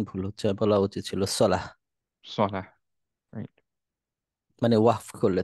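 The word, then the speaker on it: صلاة: যেমন আমরা বাংলায় বলি সলাৎ, হুম তো সলাৎ বললে উচ্চারণটা ভুল হচ্ছে, মানে শব্দের অর্থ ভুল পরিবর্তন হচ্ছে না, কিন্তু উচ্চারণ ভুল হচ্ছে। বলা উচিত ছিল সলাহ, সলাহ, রাইট।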